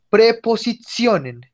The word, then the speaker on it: Präpositionen: Die Präpositionen. Die Präpositionen. Miren cómo suena la T antes de vocales. Cuando después de la T hay más de una vocal, suena como una Z. Entonces no decimos die Präpositionen, sino que decimos die Präpositionen.